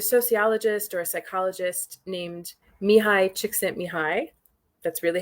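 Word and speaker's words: Mihaly Csikszentmihalyi: But there's a sociologist or a psychologist named Mihai Csikszentmihalyi. That's really how you pronounce it.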